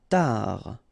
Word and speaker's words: tard: Tard. Final D not pronounced.